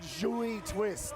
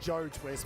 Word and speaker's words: joy twist: If you read it, it just reads like Joe Twist, but it's pronounced joy twist. I think, my French is not that good, but I think it's joy twist.